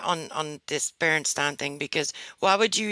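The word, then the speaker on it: Berenstain: that's how i decided how i was gonna pronounce the berenstein bears was berenstein and not baron stain not even proper english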